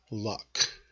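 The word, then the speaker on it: loch: in a body of water and Scotland it's luck it's kind of like that dropping a pencil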